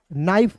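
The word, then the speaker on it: knife: इसका उच्चारण नहीं करेंगे के को क्या करना है काट देना है क्रॉस करना है एन का हो जाएगा दोस्तों न और आई एफ ई जब भी किसी वर्ड्स के अंतिम में रहेगा उसका उच्चारण दोस्तों आईफ के रूप में करना है। तो इसमें आई जोड़िएगा तो क्या हो गया? नाइफ हो गया।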